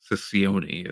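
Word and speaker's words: Cicione: new TNA president Anthony Ciccione, is how I'm deciding to That pronounce it. that's actually how you pronounce it.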